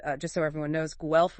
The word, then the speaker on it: Guelph: And uh just so everyone knows, GE rhymes with self, right?